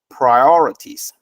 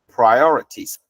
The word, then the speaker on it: priorities: pronounced as o so the I and O are separated okay we don't combine them together and becomes priorities known okay you separate them try or ities priorities priorities our top priorities it